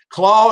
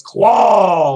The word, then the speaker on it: Klaue: So, Claw is spelled Klaue. Ulysses Claw. So so yeah. So even in the comic book, he always says Claw like that.